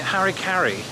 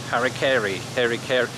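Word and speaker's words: Harry Caray: How do you pronounce that in British English? You know, those words, because we don't have the merger of Mary, Mary. So it's very hard for me to say his name and to get it right in the way I speak.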